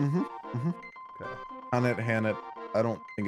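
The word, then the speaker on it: H'aanit: Single story cast for Hanit. HAANIT. Yep. Did I say that mm-hmm right? Mm-hmm. Okay. Hanit.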